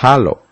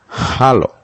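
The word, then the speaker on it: ἄλλος: texto bíblico deriva de un vocablo griego que se pronuncia halo hallo qué significa otro de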